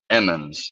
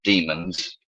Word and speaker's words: Emmons: Thanks for pronouncing it right. Emmons, not demons.